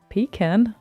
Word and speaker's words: pecan: aha nice raw pecan pecan yes pecan as a can of peas pecan that's how you pronounce it Pekin Beacon can of green peas and yeah pecan uh